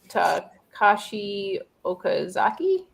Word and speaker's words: Takashi Okazaki: Takashi Okazaki?